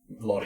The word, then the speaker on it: Lodi: Lodi.